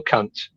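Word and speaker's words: Kant: The classic one um where it all kind of started I guess was with uh Emanuel Kunt. Um and that is unfortunately how it's pronounced.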